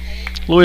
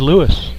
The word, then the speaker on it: Louis: down on the 5-3 louis alonso to the plate with one out nobody on this is the first road trip we've taken where the announcer properly pronounces alonso's first name everybody says lewis that one a little